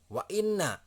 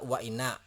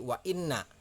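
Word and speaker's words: وَإِنَّ: kata lagi saya sengaja tuliskan wa inna ya nggak dibaca waina nah enggak seperti itu jadi wa inna nah disini setiap tasydid ini harus bertabrakan cara membacanya harus berkenaan jadi cara membacanya huruf nun nya seperti ada dua wine nah seperti itu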